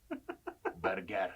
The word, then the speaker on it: Bergara: So, but you have to say it like you're Antonio Banderas in Puss in Boots. Bergara.